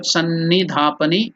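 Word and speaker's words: सन्निधापनी: Through the Sannidhapani, how to pronounce that? Sannidhapani, S-A-N-N-I, Sannidhapani, D-H-A, Dha, Pani. The E is elongated.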